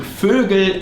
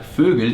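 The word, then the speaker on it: Vögel: starts the next mistake fergal and fergun like fergal is the plural from fogel which is bird like bird fogle and fergal birds and when you add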